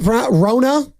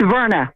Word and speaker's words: Verna: Is that Rona in San Leandro? Am I pronouncing that correctly? It's Verna. Verna.